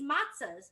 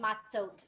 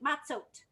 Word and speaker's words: matzot: So I know it's not really called matzahs. It's called matzot. I feel like matzahs is fun to say, but I'll try to say it right. Matzot. Can you say matzot? That's like when there's more than one matzah.